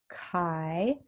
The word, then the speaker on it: chi: our test statistic is chi squared so it's pronounced chi it looks like an X but it's a Greek letter and that goes to this table that you have at the back of your package Chi square and this is our chi-square distribution which